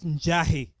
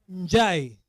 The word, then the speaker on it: Njai: My name is Njai, as you've heard. Not Njahi. Unasikia wewe? Njai.